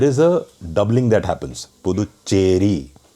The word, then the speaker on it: Puducherry: If you can't say Puducherry, just say Puducherry. That's good enough. Because you can write the two words separately and then the will not happen. The doubling will not happen. If you write it together, the doubling happens. Puducherry. But if you write it separately, Puducherry, then it's fine. So you can say Puducherry also, but don't say Puducherry or Puducherry or whatever else you say.